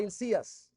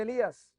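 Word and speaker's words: Hilcías: Yo lo pronunciaba bien, porque la Biblia habla de Jeremías, hijo de Ilcías. Pero él me decía, hay gente que me dice Elías, hay gente que me dice Ilías, hasta hay gente que me dice Jeremías.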